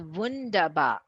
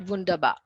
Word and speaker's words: wunderbar: wunder wundern means wonder so wonderful is wundaba and how the germans say that is always like they really exaggerate and say like it's not bundaba because it has like amazing